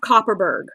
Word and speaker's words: Kopparberg: Ask them if they have Copperberg. It's spelled Kopparberg.